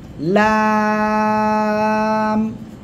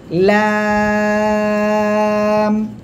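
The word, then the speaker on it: لام: এরপরে দেখেন এই অক্ষরটা লাম। 4 আলিফ টান হবে। কোন জায়গা থেকে উচ্চারণ?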